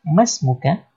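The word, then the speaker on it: ما اسمك: Padahal aliful wasal kaidahnya ketika di tengah kata dia nggak dibaca, ya. Yang dibaca itu ketika di awal. Maka di sini kita membacanya masmuka, langsung ke sin yang sukun ini. Masmuk.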